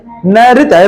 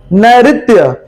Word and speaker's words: नैऋत्य: दक्षिण पश्चिम का क्या होगा, नैऋत्य, नैऋत्य री है, नैऋत्य।